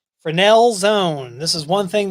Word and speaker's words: Fresnel: The Fresnel zones, and so it's actually spelled Fresnel, Fresnel, pronounced Fresnel.